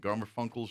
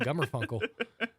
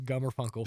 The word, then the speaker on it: Garfunkel: out and hear the hits of Simon and Garfunkel. Yeah, Simon and Umbrella. But no. We I heard you stumbled over it a second ago, and I'm like, I really wish that guy's name was Gummerfunkel.